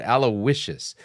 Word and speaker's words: Aloysius: Somebody was telling me that the right way of pronouncing that word, Aloysius.